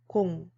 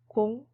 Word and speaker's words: 공: It's pronounced as either 0 or 0. In mathematics, 0 is used, and when appearing in telephone numbers, 0 is used.